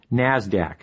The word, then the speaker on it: NASDAQ: Stock Exchange NYSE and the NASDAQ which is pronounced NASDAQ NASDAQ stands for the National Association of Securities